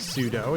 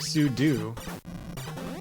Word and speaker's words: sudo: know what's doing that it's not pronounced like pseudo it's pronounced like sudoo emily i use linux i i know these things why would you pronounce it like pseudo that doesn't make any sense because you're doing something as a super user it is pronounced zardo